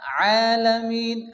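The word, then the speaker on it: العالمين: এক আলিফ টান দিয়ে পড়তে হবে লিল্লাহি রব্বিল আলামিন এই যে আইনের উপরে কি আসছে খারাজ জবর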